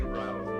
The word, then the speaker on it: Rao: I say RAO, yeah.